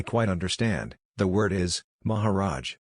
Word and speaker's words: Maharaj: I said, "I quite understand, the word is, Maharaj. This word is Hindustani with a Sanskrit root, the A's pronounced hard like, ah, and it means great ruler, Maha, great, and Raj, rule, dominion, state."